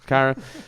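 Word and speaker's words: Caira: Her name's Sierra or Kyra. Kyra? I don't. Yeah, Kyra. Whatever. It's spelled like Sierra.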